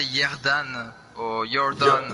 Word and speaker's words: Ierdan: So how do you spell that in English? Yeah, normally I say Yerdan or you're done.